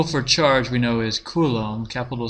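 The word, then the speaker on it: coulomb: and the symbol for charge we know is Kum Capital C and time is in seconds so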